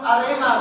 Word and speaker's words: Arema: Termasuk kata klub Arema, bukan arena ya. Tadi pendengar arena, betul? Bukan arena ya, tapi Arema FC.